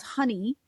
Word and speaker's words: Hynni: And a new form of energy modality, energy healing called honey, which sounds like the stuff that you put on your your toast, right? Honey, but it's spelled Hynni.